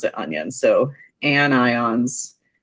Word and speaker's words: anion: If that doesn't work, the other option I have is that, and even though you don't pronounce it onion, everyone wants to pronounce it onion. So anions, like onions, make you cry because they're so negative.